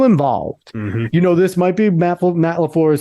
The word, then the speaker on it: LaFleur: It's Mike LaFleur.